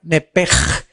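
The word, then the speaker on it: נפש: Y aconteció que al salírsele el alma, apúntalo ahí en el hebreo, es nepesh, como suena nepesh, SH al final, nepesh, se pronuncia nepej en el hebreo.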